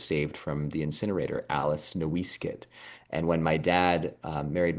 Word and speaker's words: NoiseCat: is remarkable to me because, of course, my last name is NoiseCat, but even more remarkable because NoiseCat was not originally pronounced noise cat.